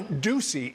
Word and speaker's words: Doocy: Okay, you know, Ducey is so hard to rhyme, but it rhymes with Watusi.